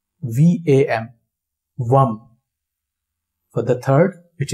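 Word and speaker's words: वं: Second, it is Vam. V-A-M.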